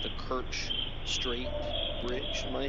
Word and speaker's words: Kerch: I believe it's pronounced the Kerch Strait Bridge.